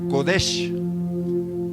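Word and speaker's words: קֹדֶשׁ: este contexto viene de una palabra que se pronuncia así godesh que significa separado que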